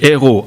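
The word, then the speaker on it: hérauts: gens à la caisse, mais ça s'écrit différemment. H-E-R-O-S. Ici au verset 4, c'est des héros. H-E-R-A-U-T-S.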